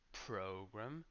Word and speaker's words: program: We have then program and programmer. So here there's a big difference between German and English. The stress in English is in the first syllable.